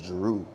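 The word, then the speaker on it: Jeru: yeah I'm my name is my name is Jaru you know j e r u like spelled like you know um and it's also there's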